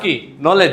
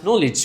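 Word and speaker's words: knowledge: matter আছে না হ্যাঁ আগে ছিলাম ভালো ছিলাম কেনলেজ ইয়েস ভেরি গুড তোমার আমার এক ফ্রেন্ড টুরকে টাওয়ার বলতো কি বলতো টাওয়ার তো আমার এক স্যার বলতো তোমার কি বাফের টাওয়ার ওটা তো এটাকে বলতে হবে নলেজ courage voltage damage heritage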